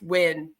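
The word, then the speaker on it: Nguyen: bubble here this little tiny bubble yeah it's pronounced win so it's it's Julie win that's how allegedly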